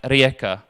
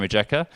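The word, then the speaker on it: Rijeka: can't even pronounce like rieka biehlovar ossiak yeah i think of a j in english it said jer so osajek bajalavar and rejecter as well as other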